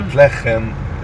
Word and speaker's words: Bethlehem: Bethlehem, this is the way the Hebrew language would pronounce Bethlehem, Bethlehem, and it means the house of bread, while in Arabic, Bethlehem means the house of meat.